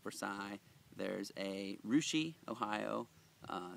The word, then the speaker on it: Russia: There's a Rushi Ohio uh spelled like uh Russia.